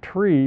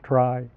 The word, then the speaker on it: trie: on a pun uh it actually is the middle letters of the word retrieval but we don't pronounce it tree because then we couldn't